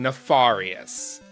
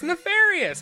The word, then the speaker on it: nefarious: of the witnesses was saying nefarious. With no R. And then the streamer was like, it's nefarious. It's pronounced nefarious.